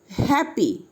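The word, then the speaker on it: happy: যেমন উদাহরণ example, হ্যাপি হ্যাপি। Y is at the end but here is a vowel a, so it is pronounced E, not I or Y.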